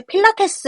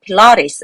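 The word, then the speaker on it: Pilates: 라든지 트와 있어야 돼 한국말로 필라테스 라고 하는데 필라테스 라고 발음하지 않고 필러 레이스 라고 말을 하거든요 배 허리 좀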